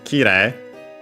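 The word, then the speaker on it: 綺麗: Accent on the first mora, this one, so yeah, the second most common accent for those.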